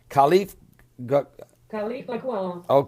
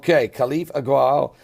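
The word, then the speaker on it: Khalifa al-Ghawil: Now, the other government, meanwhile, the international revoked government, and here's the pronunciation on that one. Khalif Agwal. Khalif Agwal, National Salvation Government, who's been revoked and had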